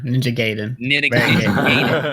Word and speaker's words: Ninja Gaiden: Ninja Gaiden.